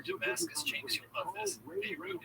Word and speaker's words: Beirut: Beirut is spelled B-E-Y and then root, like the root of a tree.